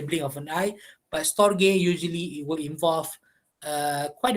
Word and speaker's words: storge: And then we have Torge, all right, pronounced as Storge, okay, not that gay, Storge, all right, whereby love grows out of friendship and is usually characterized by stability.